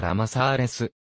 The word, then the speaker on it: ラマサーレス: に出身の画家ら混ざれずは英語風の発音でありガリシア語スペイン語ではラマサーレスホセマリアシシリアミケ